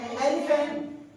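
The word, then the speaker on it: elephant: एलिफेंट। इसमें भी बीच में है पीएच, उसके उच्चारण क्या हो रहा है? फाई हो रहा है, एलिफेंट।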